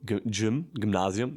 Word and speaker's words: Gymnasium: So like you say in Germany, Gymnasium. You don't say gym. Like gym is like where you make sport, but you say Gymnasium, and there you have